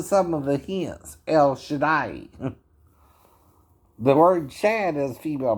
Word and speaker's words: Shaddai: Or Da'i. Kind of how you say it. Shaddai. It's not, it reads day, we would say day, right? That's not quite right.